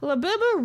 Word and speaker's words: Labubu: Labubu rhymes with Pazuzu, which is why it's based on demon mythology.